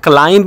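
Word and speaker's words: climb: कि चढ़ना सही है यहां पे इसको क्लाइम मत पढ़ना ये जो बी है ये साइलेंट है ठीक है इसको क्लाइम पढ़ना सही है जब एम के बाद बी आ जाए उस बी को आप नहीं पढ़ोगे जैसे कि तम है उथम नहीं है उतम है प्लम है ठीक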